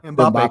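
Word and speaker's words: Mbappé: They offered, I think it's Mape. I think I pronounced his name right. Soccer dude. Mbappe, yeah. Mbappe.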